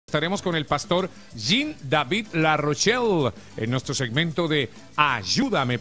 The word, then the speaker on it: Jean-David Larochelle: Por favor, diga Jean-David Larochelle. Jean-David Larochelle. ¿Así está mejor? Es francés, o Jean-David Larochelle.